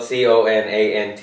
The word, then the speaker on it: Conant: because it's like spell Co na NT in it and it's pronounced Conant you know yeah so it the content it's like contradictory it it should technically be like cone and you know thank you